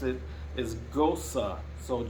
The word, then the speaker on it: Gose: to pronounce it is ghosa so g-o-s-u-h is the correct way to pronounce it so gosu is the